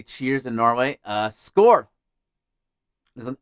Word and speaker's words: skål: It's like it's an A with a little circle around it on the top, and that is pronounced oh, like oh my god.